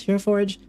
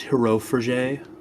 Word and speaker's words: Hero Forge: tab that says Hero Forge. And then, if you linked your Hero Forge account already... Oh, there she is. Found her. It's pronounced Hero for day.